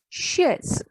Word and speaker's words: chaise: CH, in French, CH never pronounced as ch. It is always pronounced as sh in French. So it is chaise, chair, chaise.